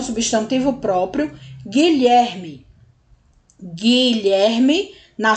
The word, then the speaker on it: Guilherme: a semivogal u né Guilherme ele nem é pronunciado u não é pronunciado a gente vai direto pro I por quê Porque o o u e o g formam um único som o som G tá bom lherme ler